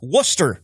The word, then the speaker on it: Worcester: The, the name of the town is spelled Worc Est. Er, so Worchester is what I hear. No, uh, all those fine people in Massachusetts will tell you this is Worcester Massachusetts.